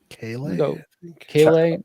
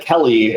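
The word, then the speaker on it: Kele: And then we have is it Keeley or Kale? Kale.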